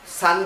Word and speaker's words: son: পারো আমি এটাকে SON সান কেন বলছি, কেন সন বলছি না, এটা কিন্তু ভুল প্রোনাউন্সিয়েশন। SON লিখতে সন, কিন্তু ইট ইজ বলতে গেলে এটা সান, প্রোনাউন্সড অ্যাজ সান, মানে সূর্যের মতো, কিন্তু মানেটা হচ্ছে ছেলে।